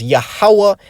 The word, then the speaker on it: Yahawah: the name a lost his original pronunciation which is yahawah and yahawashi okay the proof is